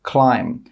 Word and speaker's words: climb: The letter B is normally not pronounced after an M at the end of a word. For example, climb.